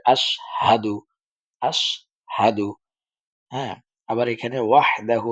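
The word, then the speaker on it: أشهد: কয় আশহাদু আশহা সাদু এখানে হা টা যে আছে এটার উচ্চারণ অনেকে করে না সেজন্য এটাকে ভালো করে আশহাদু আশহাদু হ্যাঁ আবার এখানে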